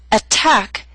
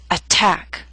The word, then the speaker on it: attack: through these three examples attack is a word with two syllables stress is on the second attack so T although in the middle of the word is at the beginning of a stressed syllable so we have a true T attack appetizer and secretary are